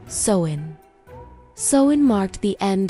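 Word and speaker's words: Samhain: And as the last crops were harvested and the cold nights grew longer, they celebrated a sacred festival called sin, pronounced sen.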